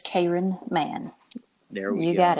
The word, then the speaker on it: Cayron Mann: say it wrong but is it Karen or Karen man it's Karen man there we go you